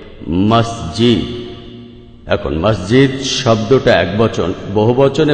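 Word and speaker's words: مسجد: আসলে মিশরী আরবি শব্দ যেটার সঠিক উচ্চারণ হবে মাসজিদ এখন মাসজিদ শব্দটা একবচন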